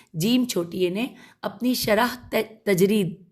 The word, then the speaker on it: تجرید: چھوٹی نے اپنی شرح تجرید تے جیم رے یہ دال تجرید میں صفحہ نمبر 382